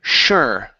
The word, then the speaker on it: sure: here is the word sure okay so instead of CH sh sh sure sure good he wasn't